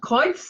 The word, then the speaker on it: Kreuz: So Kreuz is, well, is the pronunciation right first? Kreuz is the one, yeah, and I can show you if you like.